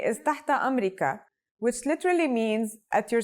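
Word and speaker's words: تحت أمرك: be kuli another phrase you can say is tata amrika which literally means at your service or at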